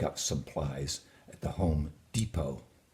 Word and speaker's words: Depot: Now, you might have jumped into your Chevrolet, pick up supplies at the Home Depot. Again, that T is silent.